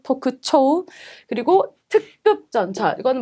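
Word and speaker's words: 特徴: 자, 그다음에 특징이라고 명사의 징자 발음 조심하시고 토쿠초우.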